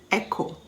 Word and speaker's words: echo: with aches and pains aren't we a-c-h-e h is silent chord c-h-o-r-d echo e-c-h-o choir c-h-o-i-r c-h-l-o-r-i-n-e can you think of